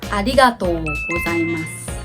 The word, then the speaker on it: ありがとうございます: Many beginners use it with the wrong pronunciation. They say arigatou gozaimasu. The correct is arigatou gozaimasu. You have to emphasize the arigatou, and you have to extend o. Arigatou, arigatou. Better not to pronounce the last U. It's more natural.